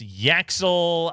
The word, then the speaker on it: Yaxel: I believe that's a Y axe eel. Oh, so like it sounds. Yes. Yes. Yaxel out of Michigan.